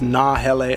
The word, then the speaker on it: Nahele: It's Nahele Outfitters.